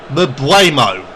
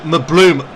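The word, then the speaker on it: Mbeumo: Mbuemo. I've been pronouncing it Mbloom. What can I say?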